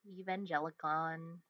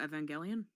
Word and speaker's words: Evangelion: what this guy looks like but he's from evangelon main character oh Evangelion yeah you and I are just in in